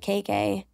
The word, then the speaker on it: Keke: But when I was little, my little sister couldn't say, so she said KK. And my family just started referring to me as KK. And it's spelled K-E-K-E.